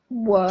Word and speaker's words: work: People asked you to pronounce something. Work.